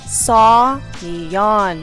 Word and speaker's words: Seoyoen: Seoyoen, that's how you pronounce it.